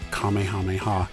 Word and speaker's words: Kamehameha: Some have pronounced it as Kamehameha or Kamehameha, and others have said Kamehameha. Apparently that is the more correct way to say it.